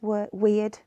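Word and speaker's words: wyrd: she's fate destiny and it's weird okay they spell it w-y-r-d so it's all a bit weird and maybe not so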